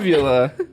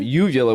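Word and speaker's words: uvula: I'm a sexual tiger Beulah is the mispronunciation of you yellow which is the ball that hangs in your throat you to blow jobs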